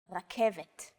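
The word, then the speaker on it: רכבת: It's only the R that's a little different. Focus on this first letter. It's often written as an R, but don't be fooled. This letter is pronounced differently than an English R. It's pronounced at the back of the throat instead of forward in the mouth.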